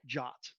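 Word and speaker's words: JWT: or one answer is json web tokens pronounced jot json web tokens are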